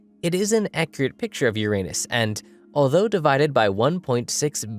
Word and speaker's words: Uranus: a big cosmic joke i'm saying uranus because i believe people are embarrassed by uranus your anus yeah i pronounce the planet's name uranus which is likely closer to the initial intonation of the name of the god after it was designated